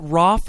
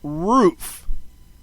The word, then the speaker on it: Roof: Dylan, is it Roff or Roof? I mean ROOF. It's Roof. Yeah, I half the journalists out there pronouncing it Roff, and I don't know why, but and I mean we pronounce our name Smith.